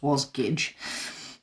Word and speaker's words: Wasgij: actually the word jigsaw spelled backwards and it's pronounced was gage uh just in case you were interested in